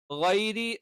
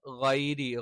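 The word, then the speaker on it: غَيْرِ: ഗൈരി, ഗൈരി, ഗൈരി എന്ന് കറക്റ്റ് പറയണം. ഗൈരി എന്നുള്ളത് എന്ത് ചെയ്യണം? കൃത്യമായിട്ട് നമ്മൾ എന്ത് ചെയ്യണം? ഉച്ചരിക്കണം. ഗൈരി എന്ന് പറയുമ്പോൾ ശ്രദ്ധിക്കേണ്ട കാര്യം എന്താണ്? തൊണ്ടയുടെ മേൽഭാഗത്ത് നിന്നാണ് ഗൈരി, ഗ എന്നുള്ള ഉച്ചാരണം വരുന്നത്.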